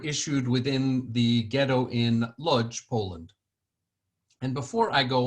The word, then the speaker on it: Łódź: The O with that accent is actually pronounced U, like a double O.